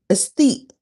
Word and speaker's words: aesthete: Aesthete. Aesthete. Two syllables.